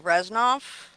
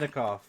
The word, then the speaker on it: Reznikov: Foreign Minister Dmytro Kuleba and Defense Minister Oleksiy Reznov, What? alongside U.S. Secretary of State Anthony Blinken and Defense I Secretary think Lloyd it's Austin. Reznikov.